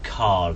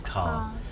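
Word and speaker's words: Karl: No, Carl. His name is Carl. Carl. Carl. K-A-R-L. Carl. Carl. Yeah. Carl. Carl. Yeah. Carl. It seems like without an R. Yeah, I think it's my accent rather than.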